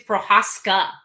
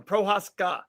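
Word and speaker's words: Procházka: No, he's telling you're saying it wrong. His name's Prochazka. Oh, Prochazka. Just give me the right stuff. SG, give me the right one. Prochazka.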